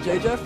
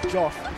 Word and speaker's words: JJF: You know, it's not pronounced JJF. That's a McCloud propaganda lie. You're JJF? Yeah, of course. It's pronounced Joff.